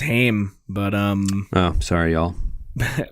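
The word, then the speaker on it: Haim: I think it's pronounced Him, but um Oh, sorry y'all.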